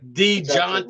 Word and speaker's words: Dejounte: DeJounte Murray.